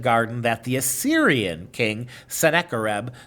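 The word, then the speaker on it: Sennacherib: that the assyrian king seneca rebel 704 to 681 bc uh or said a cherub as i've heard it pronounced built in his capital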